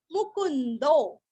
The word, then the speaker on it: मुकुंदो: विनयिता साक्षी मुकुंदो। मु पूरस्व आधा न और अवग्रह का दो के आगे जो है ना तो हल्का सा खींचना है।